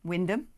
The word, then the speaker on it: Wymondham: One thing that looks like Wymondham is pronounced Wyndham.